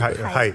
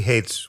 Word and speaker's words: Haidt: I never pronounced that correctly. Height, yeah. Haidt. Yeah, he hates when you say hate.